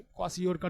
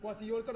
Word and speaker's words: kwashiorkor: KWA, क्वासियोरकर spelling के है silent, KWASHIORKOR। देखो इसको देखो, बताओ कौन बीमारी हो गया बोलो?